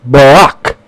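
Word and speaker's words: ברך: letters valve dalit and bait the word is pronounced Barak the Hebrew language has a lot of different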